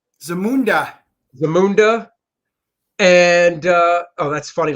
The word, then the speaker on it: Zamunda: How do you pronounce Zamunda. it? Zamunda. Zamunda.